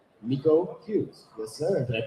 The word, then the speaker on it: Miko Hughes: case you don't know who this is, it's Miko Hughes. Yes, sir. Did I pronounce it right? Yes, you did. Yeah. Wow. No, you nailed it. Good thing you said, because I was going to say Michael.